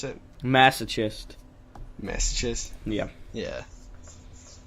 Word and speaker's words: masochist: Masochist? Yeah. Yeah. How's it really pronounced again? Masochist? Yeah. Like sun-kissed.